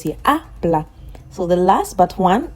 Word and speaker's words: habla: Habla. I've deepened the a because that's where the stress is. It is the last but one syllable. We have two syllables here. Habla.